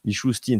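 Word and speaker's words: Mishustin: premier ministre russe et Mikouin Michin al Michustin c'est comme ça qu'il s'appelle donc il est donc il se présente comme un spécialiste.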